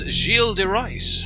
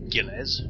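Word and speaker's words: Gilles de Rais: looking at this closeup this is XEL deice who is walking along here that's how you pronounce it in case you're wondering it's not Gilles you foolish humans so Casey coob and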